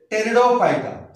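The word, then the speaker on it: Pteridophyta: है plants and टेरियो, यहां पे देखो पी साइलेंट है, इसका उच्चार जो है तो टी से स्टार्ट होता है लेकिन पी साइलेंट है, टेरिडोफाइटा।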